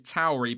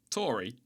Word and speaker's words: AlphaTauri: are people saying it's Tauri because of the Italian pronunciation, but then there are people saying that it's named after the Taurus constellation, and we say Taurus, which would make it Tauri.